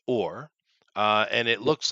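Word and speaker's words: אור: back into the original Hebrew, uh it's it's pronounced or uh and it looks like the old gaml, which is uh uh where C comes from.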